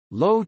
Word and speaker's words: Loewe: Low Technologies GmbH, pronounced LO/V, is the parent company of the German Loewe Group.